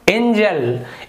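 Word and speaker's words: angel: वो गलत हो जाएगा, इसका उच्चारण होगा एंजल क्योंकि जी के बाद ई लिखा हुआ है।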